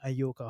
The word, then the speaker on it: Ayoka: I always pronounce your second name Ayoka. How do you pronounce it? That's it. Is Ayoka.